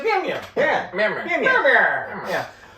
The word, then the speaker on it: Mjolnir: I Mitch said, Jolner. That's what I said. Thor's Yeah, hammer. yeah. Thor's hammer. That's Actually, what I said she- in my Why head. is the J silent? She pronounced it the way Chrissy pronounces Mjolnir. She says Mjolnir.